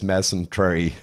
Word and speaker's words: mesentery: In this case, it is, Gabor, because I believe it is mesentery.